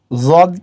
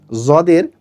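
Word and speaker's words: ض: সে বর্ণটি হচ্ছে দদ কেউ কেউ এটাকে দদ বলে কেউ কেউ বলে জদ কিন্তু প্রকৃতপক্ষে এটি দদ আর দদ আর যদের মাঝামাঝি এটা হল যদ যদ জবর যদ পেশ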